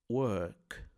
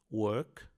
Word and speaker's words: work: Work em inglês americano, normalmente o R é bastante pronunciado.